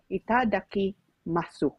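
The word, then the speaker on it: いただきます: Oh, and then sabi niya, ikadaki masu. Probably, itadaki masu. It's probably they don't pronounce the U, attorney.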